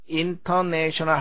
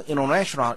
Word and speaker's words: international: 근데 상당히 많은 경우에 N 다음에 T는 잘 발음되지 않습니다. international 하지 않고 international 이렇게 우리가 발음하죠.